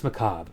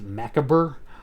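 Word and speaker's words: Macabre: dance Macob, which yeah, apparently that's how you pronounced uh what my high school self probably would have pronounced as Maka or Macabber. Marabur, it's yeah, Macob.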